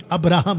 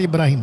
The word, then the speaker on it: अब्राहम: अर्थात इब्राहिम का परमेश्वर अब्राहम नॉट इब्राहिम। अब्राहम याद रखो जितने पास्टर्स है, कितने भी बाइबल टीचर्स है इब्राहिम नहीं बोलना। ये मुस्लिम प्रोनाउंसिएशन है।